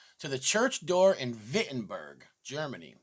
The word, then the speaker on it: Wittenberg: the 95 theses to the church door in wittenberg germany it's actually spelled with w but it's pronounced wittenberg and that was in the year 1517 this